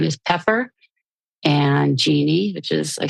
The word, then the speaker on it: Jeanne: PPP because my last name is pepper and Genie which is I spell it kind of strangely j a n NE